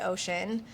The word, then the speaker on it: ōSHən: the phonetic spelling so it's pronounced the same way ocean um but that's why